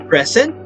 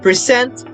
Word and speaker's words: present: gift very different right present percent present noun percent verb record record still very